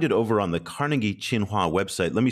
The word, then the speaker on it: Tsinghua: you can find it over on the Carnegie chinua website let me spell that for everybody because it's not obvious that's